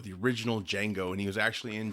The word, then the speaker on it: Django: J is silent.